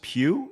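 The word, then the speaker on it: Pugh: Uh, then we have this Florence Pew. Is that right? That's how you say her name. No, no, no. Not her. Not her. Not her. Okay. These are all these are all suggestions. Pew.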